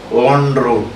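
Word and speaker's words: en route: ENROUT, it is pronounced as on route.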